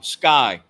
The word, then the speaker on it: SCCY: lower priced Firearms um sky is one that comes to mind and I don't know if you guys know what that is SCCY pronounced Sky yeah I just had